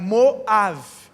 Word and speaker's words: Moab: Por isso Moabe, do pai, em hebraico, Moav, a pronúncia.